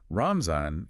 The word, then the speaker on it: Ramzan: Ramzan is the Urdu pronunciation, which you'll hear noted in the text.